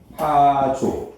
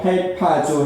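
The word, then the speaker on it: ἁρπάζω: 하르파조 또는 뭐 할파조 해도 돼요. 발음은 하르파조 또는 할파조라고 하는데 여기 이끌어 간지라요.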